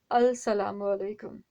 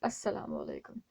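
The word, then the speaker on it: السلام عليكم: कहते हैं व्यूवर्स से अल सलाम वालेकुम ठीक है हम लोग कहते हैं अस्सलाम वालेकुम क्यों इसलिए की साइलेंट हो चुका है ठीक है अब इसकी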